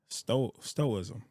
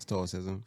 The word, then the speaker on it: stoicism: So, one one thing that you've mentioned multiple times throughout the interview today, you mentioned uh stoism. Am I saying it right? Stoism. Stoicism. Stoicism. Stoicism.